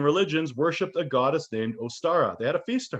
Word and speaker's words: Ostara: worshiped a goddess named ostara they had a feast to her the name ostara is high german but pronounced oster which is very close to easter in old english the anglo-saxons according to